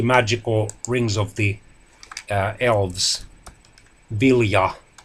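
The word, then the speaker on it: Vilya: rings of the elves be Lea spelled with the capital capital the i-l-y a meaning heir however it's pronounced exactly the same way as the finnish word for grain delia which is written according to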